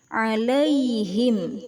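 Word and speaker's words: عليهم: didahului fathah al la ya bacaannya i bukan e bukan Al tapi alaihim cara membacanya terang di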